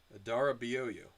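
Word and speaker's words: Adarabioyo: How to pronounce Abdul Nasir Adara Bioyo. I was pretty close. Adara Bioyo.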